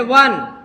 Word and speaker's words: one: चाहिए था, एन का, लेकिन वन का प्रोनाउंसिएशन करिए, व, स्वर की व्यंजन, व्यंजन किसका यूज होगा, ए का, एन अ का यूज होगा।